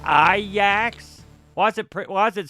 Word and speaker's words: Ajax: It's pronounced Ajax.